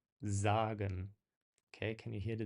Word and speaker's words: sagen: There's no vibration to it, whereas a standard single S kind of vibrates. Sehen, sagen.